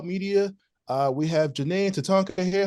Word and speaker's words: Tatanka: I want to say t tat tatonka yes tatonka did I say it right you got it